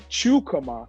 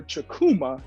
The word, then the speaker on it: Chukwuma: the attorney chukama ah man i messed that up how did i miss it i was so close and i had it right the w is silent go ahead one more